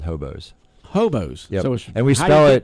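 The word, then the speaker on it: Hobeaux: sell it to it we spell it really fun it's h-o-b-e-a-u-x so when you see that hobo yeah so when we uh when we post that on social media that's how you pronounce that okay hobos yep and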